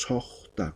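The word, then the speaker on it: suxta: Se pronuncia como si fuera vocal O. Eso pasa, por ejemplo, cuando está con la X o con la Q. En este caso, el que está con la X, entonces pronunciamos sojta, como si fuera la vocal O, pero la escritura se mantiene.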